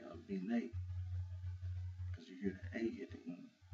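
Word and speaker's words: Abena: and the name is Abine. Abine. Now, I didn't say Abina. I said Abine. Because the way it's spelled, you have to be careful about the pronunciation.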